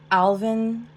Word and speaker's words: Alwyn: I've heard his name pronounced differently. I guess where he's from in South Africa, they pronounce it Alvin Yos.